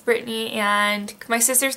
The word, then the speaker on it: Brittany: So Brittany is how you pronounce it, because there's B-R-I-T-T-A-N-Y is how you spell my name, but I just say Brittany, it's easier. People usually don't want to say the "t" in it, Brittany, so it's Brittany.